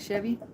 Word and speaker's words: Chevy Chase: It's Chevy, not Chevy. Anyways, yeah, she loved watching that. Those were her two favorite. The Belushi Brothers on the Mission from God and the National Lampoon's Vacations with Chevy Chase.